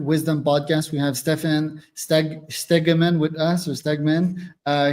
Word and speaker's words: Stephan Stegeman: If I would be uh saying it in the Netherlands in Dutch, it would be Stan.